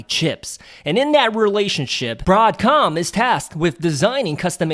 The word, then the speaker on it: Broadcom: in the effort to try to pronounce it broadcom instead of broad come well anyways broadcom ticker